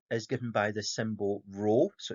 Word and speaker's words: rho: Now, density is given by the symbol rho, so it's the Greek letter rho, and that's how you pronounce it.